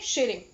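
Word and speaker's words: Tshering: है वो है लोटे शिरिंग, टी साइलेंट रहता है।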